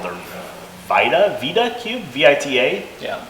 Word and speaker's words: Vita: It's called their Vita Cube, V-I-T-A. Yeah, Pronounce it Vita.